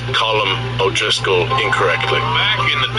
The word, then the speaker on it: Colm: It's pronounced Colm. It's not Colm.